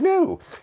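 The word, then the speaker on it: Knorr: be and they said no it's made by a company called No spelled with a cake and it's a sort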